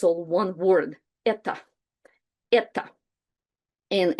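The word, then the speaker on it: это: And in Russian, it's all one word eta. And it's written with o, but we pronounce it with like with the vowel reduction. So it's more like eta.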